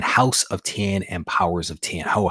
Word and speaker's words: House of X: So I've heard it as 10 and not X.